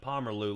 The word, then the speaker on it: Pomerleau: your name there bud pomerleau looks like he got uh eight up on that one that's the correct way to pronounce his name so you're good all